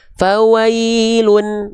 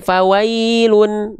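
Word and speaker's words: فَوَيْلٌ: Dibacanya harus pakai bukan cuman bunyi vokal u saja, tapi dia mesti dibaca dengan bunyi vokal konsonan un. Oke, jelas sampai sini paham? Nah, maka ketika kita baca fawailun, nah dia dibacanya fawailun. Nah, begini. Fawailun. Nah, fawailun. Nah, begitu. Jelas sampai sini insyaallah. Ah, itu dasarnya dulu. Jadi enggak dibaca fawailu ya. Oke. Tapi fawailun.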